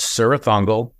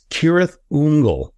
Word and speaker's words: Cirith Ungol: the Rings books many times um we've always pronounced sah Thung the band apparently um according to J.R token the correct pronunciation I don't know if you've ever heard this before it's kirth unle which I um I was like i' never